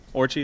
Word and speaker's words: Orci: Orci, is that how you say it?